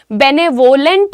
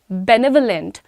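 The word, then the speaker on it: benevolent: बेनेवोलेंट नहीं बोलिएगा, बेनेवोलेंट, बेनेवोलेंट, बेनेवोलेंट साथ में कहिए, ठीक है?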